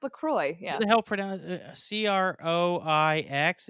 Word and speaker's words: LaCroix: would assume oh yes in the u.s it is pronounced kroy to rhyme with soy or toy or boy but in the rest